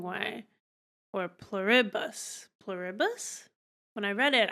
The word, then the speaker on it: Pluribus: They said it was IH instead of E. So that would be pluribus, would be the wrong way. Or pluribus.